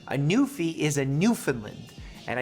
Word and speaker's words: Newfoundland: new fee is a Newfoundland and I know it sounds like I'm saying New Finland but I'm saying Newfoundland in a way that